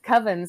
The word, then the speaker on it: Coven: pronounces it Coven because Coven sounds like oven. And I mean, if you remember back when American Horror Story season 3 was out, Coven. Mm-hmm. I always referred to it as Coven.